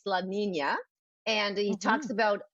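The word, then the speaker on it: La Niña: It's pronounced La Nina, even though it's Nina, it's La Nina.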